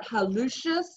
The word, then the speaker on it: hallucis: So just pronounce it hallucis, and then you will have the U, where the U belongs.